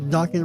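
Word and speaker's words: Dokken: Dawan rhymes with Rockin, right?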